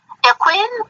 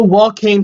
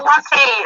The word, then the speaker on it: Joaquin: Quinn Phoenix. Oh God, I can't say his name. I haven't seen the new Joker movie. Oh, Joaquin Phoenix. Yeah, Joaquin. Okay.